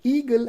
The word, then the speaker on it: eagle: as Eagle now now the word eagle has two syllable one is e and another one is G so e g the stress goes on first syllable so we say eagle if the stress would